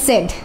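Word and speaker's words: said: এটাকে আমরা কি বলি তখন এটাকে আমরা বলি সেইড তো সেই ক্ষেত্রে কিন্তু আবার এই সেইড ভুল আপনাকে বলতে হবে সেড তাহলে কিন্তু জিনিসগুলো একটু ডিফারেন্ট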